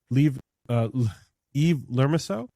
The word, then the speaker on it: Yves Lermusiaux: We have up with us a very special guest, Yves Lermusiaux.